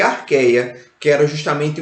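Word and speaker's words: Archaea: CH tem som de Q e A com E eu só pronuncio o E, né? Então fica arqueia, que é representado pelas arqueobactérias.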